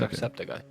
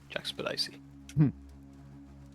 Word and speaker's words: Jacksepticeye: But he did hire someone on Fiverr to say his name, and they said Jackspedicy. So he will always be Jackspedicy to me.